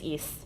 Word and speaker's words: Ys: I think it's Ys. Ys, I think is how it's pronounced, but it's spelled Y-S if you're looking it up in the catalog.